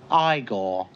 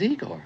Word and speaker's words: Igor: No, it's pronounced Igor. But they told me it was Igor. Well, they were wrong then, weren't they?